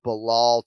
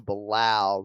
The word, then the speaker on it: Belal: just ruined them yeah it was easier making the fix from uh belal to balau right this is like a totally different sound from marab to may rob you know but uh